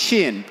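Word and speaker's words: Shein: new channel to enter a market um is shin and I've actually confirmed with the company that's how you pronounce it um so we spent 15 years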